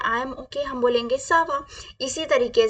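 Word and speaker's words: ça va: आई am okay तो हम क्या बोलेंगे नॉर्मली सवा क्या बोलेंगे सवा सवा हम कब बोलते हैं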